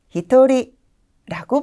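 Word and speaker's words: 一人: 히토츠 한 명은 히토리라고 발음해 주시면 돼요.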